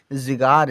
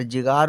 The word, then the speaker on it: जिगर: जिगार। जिगार उच्चारण सही है, गलत है, सही उच्चारण जिगर है।